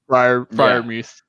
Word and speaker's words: Freiermuth: Yeah, and Sam, on your point about Freiermuth, or is that how you pronounce the name, Freiermuth? Freiermuth.